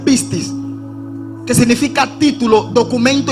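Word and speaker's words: πίστις: cuenta que la palabra fe en griego se pronuncia pistis, que significa título, documento y papel legal.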